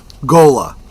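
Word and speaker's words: Ghola: Gola Gola. That's how it's pronounced.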